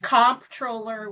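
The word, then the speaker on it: comptroller: and they say they've heard it pronounced controller, comproller. Tell us what a controller does and it's all about the bucks, right? That's absolutely right. And it is comproller with a P.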